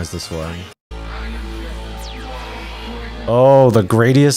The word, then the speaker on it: Gradius: We used to say, we have like a lot of variations of how to say this, like gradiistic, or even though there's no T. We usually just say Grad Cyber because we're like, well, what does this actually say? No, it's Gradius.